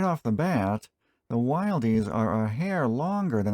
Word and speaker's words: Wilde: Hey guys, got another Wilde tool to check out today. Apparently, I was still pronouncing it wrong in the last video. It's not Wilde, it's not Wilde, it's Wilde.